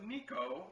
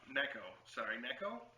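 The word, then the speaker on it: 猫: the floor and excitedly told his mother, Nico, pronounced Nico, which is the Japanese word for cat. My cat, who had dozed off, Neko.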